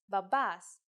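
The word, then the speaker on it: μπαμπάς: The word is babas. Let's write it. Babas, if you notice that me and B together actually sound like B, you were right.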